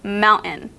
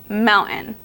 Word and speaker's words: mountain: we have the word Mountain see how I don't even say the T it Blends into the n Mountain it has more of a n Sound but a quiet n not a full n